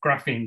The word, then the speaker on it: graphene: very new levels of graphene so there are new forms frustratingly pronounced the same as graphing but it's felt slightly different um there's a new